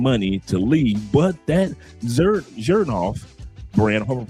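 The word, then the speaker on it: Xerjoff: The the X makes a Z.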